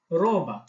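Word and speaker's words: Roma: এবং উচ্চারণ একই রকম কিছুটা ব্যতিক্রম হচ্ছে যেখানে আমাদেরকে কিছুটা কম্পিত উচ্চারণ করতে হয় অনেকটা মুখে পানি নেই গরগলা করার মত যেমন রজা রোমা তারপর হচ্ছে এস এস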